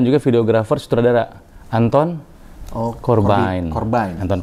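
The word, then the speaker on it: Corbijn: videografer sutradara Anton eh korban korban nonton korban orang Belanda bukan korban ya orang bilangnya corbin kalau ejaan Belanda itu namanya banyak korban vokalisnya irfannya juga kan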